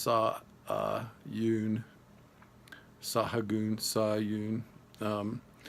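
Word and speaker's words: Sahagún: today just for the first time that it's pronounced saw UHN saw a goon saw you and it's a little more than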